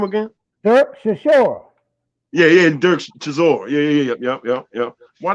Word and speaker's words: Chisora: Oh, Berkshire Shore. Say again. Berkshire Shore. No. What's this boy's name, man? It got to be Berkshire Shore. Say his name again. Dirk Chisora.